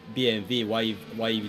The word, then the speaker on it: BMW: basically Europe or by English speaking people always say BMW but in Germany they say BMV I'm like B BMV